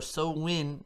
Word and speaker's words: Samhain: or celtic new year festival of samhain or so win as they pronounce it was born and in the 1800's